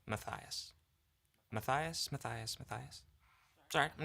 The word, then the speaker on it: Matthias: Hi, Matas. I was wondering if you can help me understand if for all who are wondering, my name is pronounced Matias.